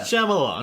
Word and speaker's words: Shyamalan: Like, M. Night Shyamalan, not that hard. 3 syllables. Yeah. Shyamalan.